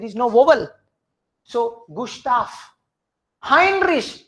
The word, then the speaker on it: Heinrich: Heinrich, why high? Because E-I is I. Hein. Rish against sh, not kh.